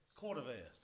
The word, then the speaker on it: Cordovez: How do say? Cordovez. Did I say it right? Yes, sir.